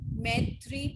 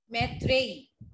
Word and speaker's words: Maitreyi: So I have Anant Garg, Maitri. Is it the correct pronunciation, beta? Have I pronounced your name correctly? Yes, ma'am. Maitreyi. Yes, ma'am.